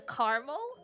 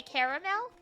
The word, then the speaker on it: caramel: Anglo Canadians I know they'll say uh caramel but I'll say caramel because in French it's caramel Okay.